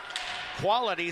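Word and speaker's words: Kvale: Of course, if you know quali real estate, it's KV A L E. Quality starts with quali.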